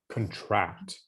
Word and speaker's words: contract: This is the emphasis is on the second syllable, contract. Contract.